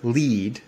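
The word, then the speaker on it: lede: nut graph high up after your lead which for no good reason is spelled l-e-d-e which is essentially the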